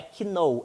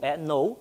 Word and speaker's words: know: Se eles conhecerem, know, o verbo to know não é que know, é know, a pronúncia.